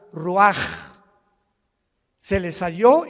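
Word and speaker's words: רוח: ro así como suena se pronuncia la ch en hebreo como J ruaj se le só y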